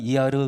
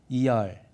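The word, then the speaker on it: אייר: 뭐 한국에서는 이르 그러겠지만은 이제 그건 한국식으로 발음하는 거고 그 본토 발음은 이알 그때 뜻이 뭐냐면은 치료라는 뜻이에요.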